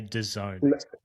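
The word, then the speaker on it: DAZN: Have you ever heard of a thing called Done? Mate, you're speaking Japanese now. I think it's spelled D A Z N and they say Done.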